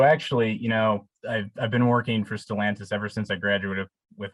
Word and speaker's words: Stellantis: I have a question about, and correct my pronunciation if it's wrong, Stellantis. Is that your job now? Yes, that's pronounced correctly, which, speaking of pronunciation, just want to make a quick clarification.